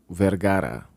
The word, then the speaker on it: Vergara: this sophia vergara vergara as she pronounces it was this modern family